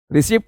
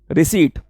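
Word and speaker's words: receipt: याद रखिएगा, पी इसमें साइलेंट होता है, रिसिप्ट नहीं बोली जाती, रिसीट।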